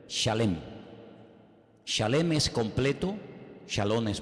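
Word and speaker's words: שלם: esa palabra no es se escribe Exactamente igual que la palabra shalom con las mismas letras Exactamente igual pero se pronuncia diferente shalem shalem es completo shalom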